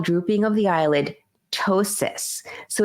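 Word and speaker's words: ptosis: drooping of the eyelid tosis so it's spelled PT o s i s i s sorry excuse me but we pronounce it toe as in t o e s i s Tois which is drooping of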